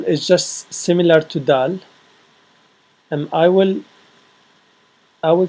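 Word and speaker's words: دال: of the alphabet um let's start with D D or dou a Dal um that's the name of the letter and it's pronounced as the and for you to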